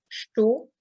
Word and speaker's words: estou: Donc là, à nouveau, souvenez-vous la leçon d'hier, estou, donc le OU de estou qui se prononce bien O et pas OU. Hein.